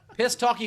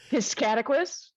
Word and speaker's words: Piscataquis: Piss talky moose No. lips? She said No. piss talky moose lips? Dana? No. Piscataquis? Oh, piscataquis. Yes, of course. Just like it's spelled.